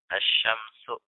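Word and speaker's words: الشمس: Poin keempat, isim yang berawalan huruf syamsiyah saat diberi alif lam, cara membacanya sama seperti membaca asyamsu, ya, yaitu dengan tidak membaca huruf lamnya. Jadi seakan-akan huruf lamnya itu nggak ada.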